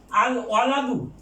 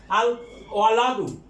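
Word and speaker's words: الولد: আল ওয়ালাদু, what a হরফুল কামারিয়া, কাজে লাম উচ্চারিত হবে আল ওয়ালাদু, বালক।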